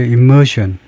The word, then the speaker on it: immersion: immersion. 이 발음이 S 발음이 나죠. immersion.